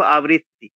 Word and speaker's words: আবৃত্তি: আবৃত্তি কথাটা উচ্চারণটা কিন্তু ভুল হয়ে গেল। মানে বয়ে ব ধরে নিয়েছি আমি। ওটা বয়ে ব তো নয়, বয়ে রি। এটা যেন বানানটা হয়ে গেল আ আ বয়ে বয়ে রফলা রস্বই তয় তয় রস্বই আবৃত্তি। বটা ওই ১ম এর বটা অকারণে আমরা নিয়ে আসছি। ওটা কিন্তু আবৃত্তি। আবরি, আবরি, বয়েরি ব্রি, আবৃত্তি।